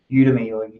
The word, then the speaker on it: Udemy: then finally there's this udemy demi depending on how you want to pronounce a course called the